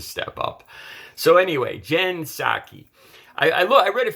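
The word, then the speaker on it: Psaki: her name it apparently it's pronounced sak s-o-c-k saki it's spelled p s a k i p s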